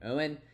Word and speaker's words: Eoin: Uh and they show in here that you pronounce this guy's name Owen. Andrew Duncan and Giovani Reano.